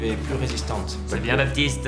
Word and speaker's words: Baptiste: C'est bien Baptiste. On prononce pas le thé.